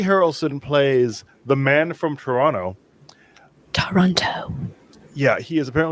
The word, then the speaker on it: Toronto: Say it like an American. He's gonna kick me out of the office, guys. It's gonna happen. So that No one movie pronounces the is, T's in Toronto. Oh, this movie does, and it's really infuriating if you're Canadian.